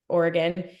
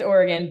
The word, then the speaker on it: Oregon: It's Oregon, but everyone says Oregon, and I Okay.